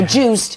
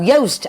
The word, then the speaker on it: Joost: Contact JongLeren, the lovely Joost, and I remember how to pronounce it because you wrote it Joost or Juiced, but it's no, Joost as in toast.